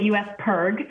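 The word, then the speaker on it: U.S. PIRG: it up pretty well um and it's we pronounce it u.s perg and it stands for the public interest research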